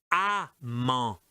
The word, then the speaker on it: amant: Là, cet exercice numéro 2, c'est amant, amant. D'accord? C'est différent de aimant. Amant, aimant, amant, aimant. D'accord? Donc là, c'est le même principe, le même mécanisme, mais la prononciation est différente.